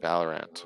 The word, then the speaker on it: Valorant: No, so or is it Valorant? Valorant, I think that's how you say it.